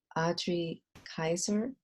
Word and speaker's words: Adri Kyser: Dallas today I have the honor of interviewing Audrey Kaiser am i pronouncing your name correctly yes you are and